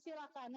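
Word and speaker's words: coelacanth: Ini adalah ikan silakan. Nulisnya coelakan tapi dibacanya silakan.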